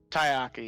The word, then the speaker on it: Taiaiake: Am I pronouncing that correctly? Tayaki.